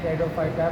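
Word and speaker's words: Pteridophyta: ऐसे लिखते हैं, टेरिडोफाइटा प्री साइलेंट होता है।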